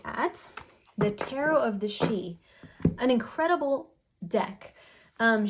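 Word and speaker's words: Sidhe: the tarot of the she an incredible deck um she is not spelled like you would think Tara of the she it's got this cool spelling on it s-i-d-h-e but it represents these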